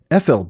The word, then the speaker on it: Ephel: Now, there, in the entry for how to pronounce PH, the PH letter combination in Sindarin, it's pronounced like the letter F, we read some examples of where it's used.